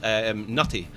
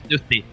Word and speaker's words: Knuti: team many times, and we've always called Nutty. and you guys have just kind of rolled with it, which has been pretty cool of you. But is it how do you say it? Knuti. Knuti. Knuti. Yeah. Okay. Well, Bovelli will be chuffed that we're at least now trying to say it correctly.